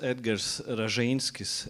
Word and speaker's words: Edgar Rajinskis: Uh so my name is Edgar Rajinskis in Latin pronunciation.